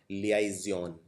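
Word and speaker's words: liaison: लिख के प्रैक्टिस करना इसको प्रोनाउंस करते हैं लिया जन अगला है पर्वर मेंस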